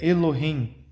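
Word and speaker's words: אלהים: Eu vou deixar no PDF para vocês como ele é escrito, mas a pronúncia é Elohim.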